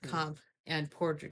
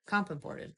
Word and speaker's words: Comp & Ported: Yeah, you got to say it like in and out, right? You can't go in and out. It's not comp and ported. It's comp imported.